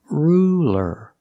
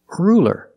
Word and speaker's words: ruler: light l that's right it's a light L because it's between vowels so it's not ruler it's ruler ruler use a light l straighter ruler ruler